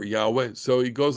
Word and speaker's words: Yahweh: say Adonai okay but it was probably pronounced yah or Yahweh so it goes like